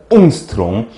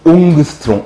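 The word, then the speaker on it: 옹스트롬: 옹스트롱. 옛날 교수님들은 옹그스트롱, 옹그스트롱 이렇게 발음을 하셨었죠.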